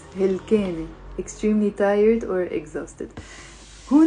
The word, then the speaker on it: هلكانة: 3 syllables. هلكانة.